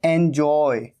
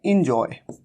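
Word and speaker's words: enjoy: और एंजॉय, एंजॉय, कई बार कई लोग मिस्टेक करते हैं, इसे कह देते हैं इंजॉय। ये इंजॉय नहीं है, यहां पर ई का साउंड नहीं है, बल्कि यहां पर कैसा साउंड है? ए का साउंड, एंजॉय।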